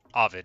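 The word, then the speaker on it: Ovid: but ID wrote it Avid is how to say it I say it the wrong way uh I've said it the wrong way my whole life but um y i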